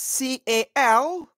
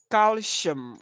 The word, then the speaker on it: calcium: What you just missed is the second syllable. You got the first syllable very correct. Yeah, but the second syllable is not shum. It's calcium.